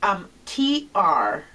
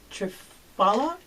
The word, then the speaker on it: Triphala: this stuff for you, but I just cannot pronounce this. It's Triphala. Okay. Triphala?